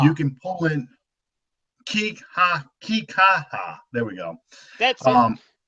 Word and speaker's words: Kikaha: Willie Whitehead role I think would be uh kiaka oh how you say his name the Pineapple Express that's the guy you can pull in Kika kikaha there we go that's um yes he is